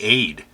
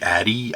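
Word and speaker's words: Ade: just i it's i i want to say aid and i think that's right but it could be addy i have no idea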